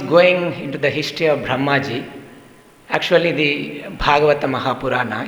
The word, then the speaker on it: Brahma: a masculine word brahma so when we say brahma with a long a it refers to lord brahma we're talking about and